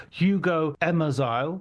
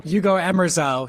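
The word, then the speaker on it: Hugo Emmerzael: on this Malik journey, Hugo Emmerile. Have I pronounced your name correctly, Hugo? Hugo Emmerile. Hugo Emmeral is already perfect.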